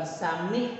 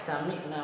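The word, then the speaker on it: سمعنا: habisnya s10e the same akna bukan samih nah Hai Samick Nah ini salah pengucapan yang salah ya Biasanya kita biasanya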